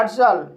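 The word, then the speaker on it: partial: पार्शल इस word में पी को प पढ़ेंगे ए को आ पढ़ेंगे आर को र पढ़ेंगे और टी को श पढ़ेंगे आई ए साइलेंट रहेगा एल को ल पढ़ेंगे हेलो गाइस इस वीडियो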